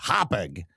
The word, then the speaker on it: Hauppauge: Okay, Hauppauge is pronounced Hauppauge.